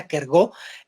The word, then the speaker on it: Kierkegaard: y temblor de sören kierkegaard que según entiendo se pronuncia a cargo pero bueno pues decimos